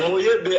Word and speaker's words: Mouyebe: Mouyebe.